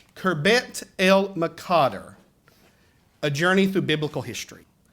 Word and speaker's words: Khirbet el Maqatir: to tell you that I butchered this name until I actually spent a little time with the archaeologist, and he corrected me on it and a few other things I was mispronouncing related to archaeology. But our exhibit name is Khirbet el Maqatir, a journey through biblical history.